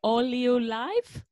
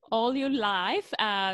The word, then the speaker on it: Oleu Life: It's called, let's see if I can say it right. It's the Oleu Life. That's perfect. It. That is perfect. Oleu Life.